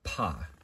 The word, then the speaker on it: Pa: And Aaron Leitch provides this helpful pronunciation guide, and he puts it listed as Pa, just the same way, like Mon Pa Kent, if you are a fan of Superman.